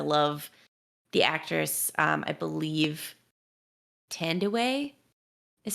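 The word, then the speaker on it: Thandiwe: the actress i believe tend away is how you say her name oh i said tandy newton but yeah so she added the w back in because that's her like uh birth name and so she was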